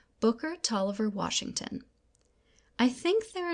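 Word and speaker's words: Taliaferro: me the name of Booker Toliver pronounced tall lever soon after I was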